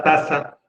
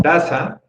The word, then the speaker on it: taza: Por eso les digo, no es una regla, porque en taza hay una sílaba que utiliza la Z, pero sin embargo, la sílaba que se pronuncia más fuerte es ta.